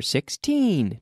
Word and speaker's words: sixteen: seven one six sixteen remember sixteen dicta the intonation on the second syllable and the third number